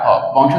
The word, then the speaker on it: খাব: অ, তাহলে এই অ এর উচ্চারণ উ এর মতো হয়ে যাবে।